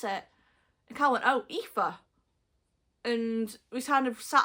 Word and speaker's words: Aoife: to pronounce her name I get a lot of AIS or Eva Eva yeah you say EA to someone they go Eva no EA and if you ask